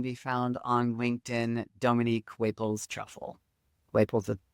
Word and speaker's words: Waples: It's Dr. Waples, which is, spelled like flower, Waples, which is W-A-P as in Paul, L-E-S. And that's really the easiest place to get a hold of me.